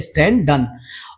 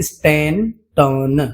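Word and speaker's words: Stanton: है professor William J स्टें डन और spelling थोड़ा सा मिस्टेक है इसका करेक्ट नाम है स्टें टन स्टें टन right तो विलियम प्रोफेसर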